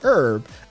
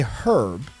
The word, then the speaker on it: herb: come over from france they didn't say the h but here's what actually